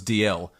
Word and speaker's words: Dalziel: The correction made absolutely no sense to the spelling of the name, and I cannot remember how they pronounce it. It was either Delish or it was DL, but it was not Dalziel.